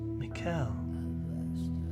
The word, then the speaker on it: Mikael: i want to though mikael mikel like the archangel okay so it is pronounced like michael the name suits you